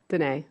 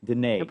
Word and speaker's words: Danae: always get this wrong danae danae rhymes with the nate holds an mba from